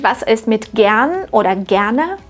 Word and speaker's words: gern: ist mit gern oder gerne der Stammvokal ist kurz gern das R nach kurzen Vokalen wird zwar standardsprachlich ausgesprochen aber es ist kaum hörbar das kannst du gern